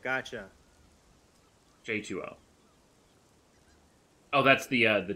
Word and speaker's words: J2O: a new skill oh j20 gotcha j2o oh that's the uh the drink thing it is an o not a zero yes i've been saying it wrong oh it's like water like h2o juice to uh i